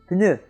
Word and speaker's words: pneu: word number 8, and the word today is pneu.